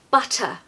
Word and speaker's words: butter: the south of England we have a very strong T sound compared to the American accent it really is very pronounced especially when there's two te's guys we've just got to pronounce them it's non-negotiable butter butter sometimes all